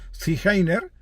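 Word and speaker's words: Zigeuner: gitanos los gitanos llamados ziner eh que se pronuncia Eh zine pues también hay enterrados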